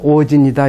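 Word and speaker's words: 応神: 한자는 이렇게 씁니다. 오진이라고 발음해요. 오진. 그러니까 일본의 그 근데 사람들 주장하기를 실제로 일본석이 그 여러 가지 천황의 쪽이 있는데 실존한 첫 왕은 오진이다 이렇게 돼 있어요.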